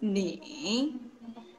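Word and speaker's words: 你: Kamu dalam bahasa Mandarin ni menggunakan tone yang ketiga atau shengtiao yang ketiga, yaitu ni.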